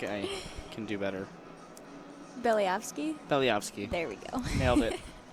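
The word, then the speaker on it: Belyavskiy: I believe there is a pronunciation default there. Yeah, I think I can do better. Belyevsky? Belyevsky.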